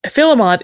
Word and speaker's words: filemot: Filmont is a decidedly anglicized, some might say butchered form of the French term fymort.